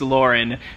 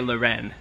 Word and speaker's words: Lauren: We know that it's Lauren, but we like to say Lauren. And we will continue to say Lauren. So we sold this polo Ralph Lauren Pima soft touch polo for 25 bucks, $24.77.